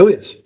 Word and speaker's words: Elias: I always say it wrong. It's Elias. Yeah, you said I said it right the first time.